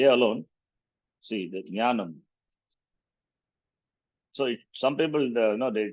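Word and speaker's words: ज्ञानम्: like Kshatriya, Akshara, and Jakara followed by Nya will be Jnanam. This is not Gnana Mandal. Some people say Gnana Mandal, Jakara. That is wrong actually. Gnanam. Instead of Jakara, they pronounce it as Gakara, Gnanam.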